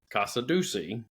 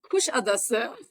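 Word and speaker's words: Kuşadası: we stopped in a port that I would pronounce Kasadusi because I'm from East Tennessee. Now, Sue, what is the proper pronunciation of Kasadusi? Kushadasa.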